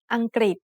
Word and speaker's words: อังกฤษ: the initial consonant กอไก่ the vowel รึ pronounced as ริ Together they make the sound กริ like a consonant cluster กอไก่ and รอเรือ with the vowel สระอี Then the final consonant สอฤาษี makes a T stop.